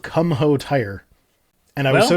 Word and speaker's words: Kumho: Progress Only is trying to rain on this parade by saying it's pronounced Kumo. Uh, It's spelled Kumho. I'm sorry, it's Kumho.